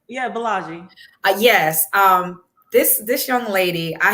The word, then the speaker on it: Bolaji: Yeah, Bolaji.